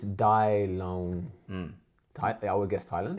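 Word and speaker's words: 台灣: And I'm probably not going to be pronouncing it right. So go easy on me. Dai Loan.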